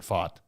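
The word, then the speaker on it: Pfaadt: I think the P the p is silent but uh he's been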